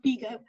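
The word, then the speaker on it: Bigod: roger by god sorry beagle is pronounced bigo the earl of norfolk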